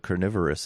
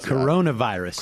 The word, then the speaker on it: coronavirus: censors to cover the carnivorous outbreak in a really effective way. The what? I don't know how to pronounce it. Coronavirus. Corona? Yeah. Really? Yeah, not carnivorous.